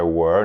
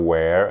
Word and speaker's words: were: To be, I was, You were, a pronúncia é were, não é where, é were, como em world também, como na palavra world ou worth.